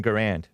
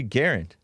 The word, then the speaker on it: Garand: m1 garand is pronounced i always thought it was m1 garand but i looked it up and it's supposed to be guarant it's still debated to